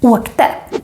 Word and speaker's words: åkte: But when you say this in the past, åkte, traveled or went, then it also becomes long even if there are two consonants